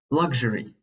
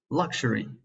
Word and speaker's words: luxury: I'll have to say luxury, which could also be pronounced luxury.